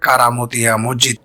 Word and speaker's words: কারামতিয়া মসজিদ: অনুসারেই তার প্রতিষ্ঠিত এ মসজিদের নাম রাখা হয় কারামতিয়া মসজিদ তবে স্থানীয় উচ্চারণে কেরামতিয়া মসজিদ নামেই প্রসিদ্ধ ইতিহাস থেকে জানা যায় ভারতের